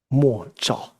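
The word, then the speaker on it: 默照: So when it was first introduced to this practice, the traditional Japanese word for this, silent illumination, Chinese is mo zhao. The Japanese pronunciation is mokusho zen.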